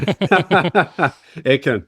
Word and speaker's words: Aitken: do you say it say your last name Aken Aken all right fine I was close yeah